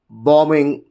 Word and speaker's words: bombing: And if you just look at exception for rule 1, when MB combinations are there, especially S, ED, ING, ER, this becomes silent. And bombs, bombed, bombing, and then bomber.